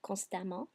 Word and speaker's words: constamment: You're going to hear a short A, d'accord? Constamment, constant, constamment.